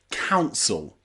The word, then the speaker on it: council: You'll find the same thing in words like council, council, and compatible, compatible. That ibble at the end there with the letter I is not pronounced I-bull, it's pronounced a-bull. Compatible, compatible, because that letter I is not stressed here.